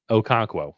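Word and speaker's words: Okonkwo: How do you pronounce Okonquo? Okonquo.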